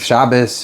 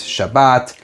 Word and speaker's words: Shabbos: Because as you know, you can have Shabbos, Shabbat, Shabbat, right? Shabbat. Yeah, Shabbat, right? So I wrote that I follow the Ashkenazi pronunciation guides.